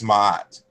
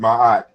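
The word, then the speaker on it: Ma'at: made the argument that when we say mahat that at least historically fundamentally it was not pronounced ma because we put two a's in between the consonants m as in Mary and t as in ter.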